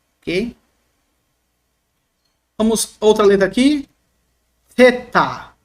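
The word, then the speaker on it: θῆτα: Theta. Ó, theta é a língua entre os dentes, tá bom? Soprando. Porque ela é uma dental, tá? Língua dental, e também ela é uma aspirada.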